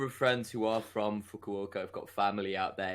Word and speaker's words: Fukuoka: The last time we recorded this, he introduced them as the Fukunawa SoftBank Hawks.